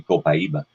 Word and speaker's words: copaiba: know of it and you pronounce it different ways copaiba co Kaiba you know there's many different ways that if we do it correctly from South American Spanish it would be copaiba and interestingly enough I